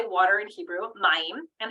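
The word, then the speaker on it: מים: Mayim.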